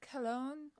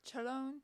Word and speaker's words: Khelone: It's pronounced either like Khelone or sometimes Chelone with like a slight.